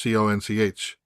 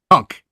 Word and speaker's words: conch: So the word conch, CONCH, right? Yes. That's not how they pronounce it there. Okay. How do they pronounce it? Conk. Wait, what? Conk. Like getting conked in the head.